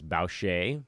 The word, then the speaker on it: Boucher: then Chris Bosh a I think it's Boucher I don't think you pronounce the are but I could be getting that wrong Norman Powell was solid